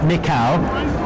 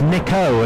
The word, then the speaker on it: Nikau: control tells me this we've been mispronouncing his name for the last 15 years it's not nikau it's nico and bearing in mind